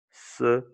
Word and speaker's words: serenity: Le son court de I, n'oublie pas, c'est E, comme un E accent aigu court. E. Donc, tu dis serenity.